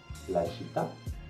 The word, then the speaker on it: città: C'est-à-dire que si vous voyez un mot avec un accent grave, vous devez le prononcer en insistant sur la dernière syllabe. Par exemple, il caffè, la città, la virtù, la verità.